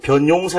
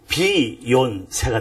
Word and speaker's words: 변용세: byy UN 있지 않습니까 한국에서는 변이라고 단번에 발음 하잖아요 근데 영어권에 가면 이게 단번의 발음이 되지 않고 돼요 그러다 보니까 뒤에 용자 합 합치면서 제 이름은 영어권 가면 비요 세가 됩니다 아 그렇군요 이제 하나님께서